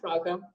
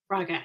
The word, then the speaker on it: Frauke: I have a special guest, and I'm going to let her pronounce her name because I will butcher it. Hey, hello, I'm Frauke. Frauke.